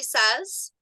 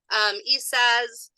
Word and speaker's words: Isaz: It can be Isaz or Isa. Isaz is a little bit more of a modern way of saying it, and then Isa is the way that it's written in a lot more Norse texts. Both of them are correct.